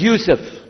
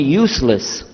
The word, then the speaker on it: Yusuf: My name is Yusuf. Did you say Yusuf? You say Yusuf. Yeah, very good. I wish you'd teach my wife. She keeps mispronouncing it. She calls me useless.